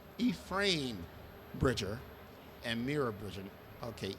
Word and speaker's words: Ephraim: His name is pronounced Ephraim. Okay, Keith loves to tell me when I mispronounce something. So- Yes. Okay. All right. What is the pronunciation? Ephraim. Ephraim Bridger and Mira Bridger.